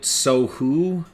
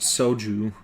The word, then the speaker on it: soju: She kept pronouncing it sohu, and you said it's pronounced soju.